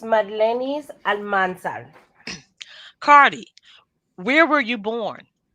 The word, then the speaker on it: Almanzar: Delcalis Marlenis Almanzar.